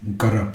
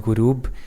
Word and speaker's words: Gurub: The first one is Uruj and the second one is Garab. How do you pronounce it and what does it mean? The first one is called Uruj. The second one is called Gurub.